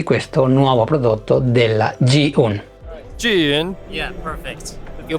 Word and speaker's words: Zhiyun: Jin? Yeah, perfect. You pronounce it more right than 90% of our own stuff.